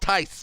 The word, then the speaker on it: Tice: It's pronounced Tice. My apologies. I said Thies, didn't I?